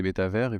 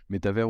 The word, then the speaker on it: métavers: moi, un métavers, déjà, comment on le prononce, métavers ou métaverse, Oui. en étymologie, donc c'est méta et ça le mot valise entre méta et univers. Et en anglais, évidemment, universe, donc métaverse.